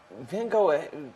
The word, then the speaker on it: Van Gogh: love it and then van go I think that's like the American pronunciation of his name am I right do